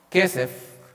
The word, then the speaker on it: kesef: en el idioma original en hebreo kesef que es como se pronunciaría Esa palabra que no